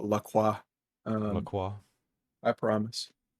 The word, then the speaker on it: LaCroix: uh that being said if lacroix decides to uh sponsor us i will even pronounce the name properly and call la cua i don't know i